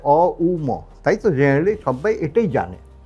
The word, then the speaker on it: ওম: তাই জন্য একচুয়ালি ওম হচ্ছে তিনটি ওয়ার্ড দিয়ে বলা হয় অম।